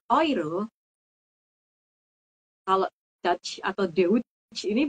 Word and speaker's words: Euro: tadi ingat di Kal kita ngomong Euro kita jadinya oiro kalau dch atau De